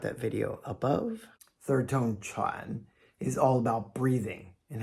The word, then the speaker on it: 喘: Sometimes it's pronounced nung. It means and, then, and yet. Pause for practice. Here's third tone Chuan.